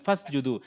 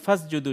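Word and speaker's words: فَاسْجُدُوا: এখন এই শব্দটা যদি এই শব্দটার আগে যদি অন্য কোনো শব্দ থাকে, এই শব্দটাকে এইটাকে যদি ধরতে যাই, তাহলে ওই যে আলিফটা উচ্চারণ হবে না।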